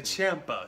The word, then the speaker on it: Ciampa: Ciampa, what he's doing is and I always pronounce his name with a G. I'm sorry I get that wrong every time. He's the champ. I should say Ciampa. It's a lot closer than what I actually say.